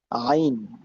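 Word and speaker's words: عين: জ এর পরেরটা হচ্ছে আইন। এই হচ্ছে আইন। আইনের উচ্চারণ খেয়াল করেন একটু কঠিন লাগবে এটা।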